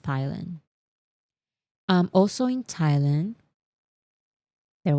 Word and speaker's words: Thailand: Do you say Thailand or because there's a th No, it's Thailand. I know it's Thailand, but why is there an H there if it's not pronounced Thailand?